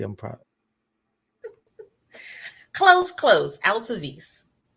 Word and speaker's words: Altovise: Altovise. Altovise, and it's like it's spelled.